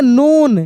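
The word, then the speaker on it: known: नोन।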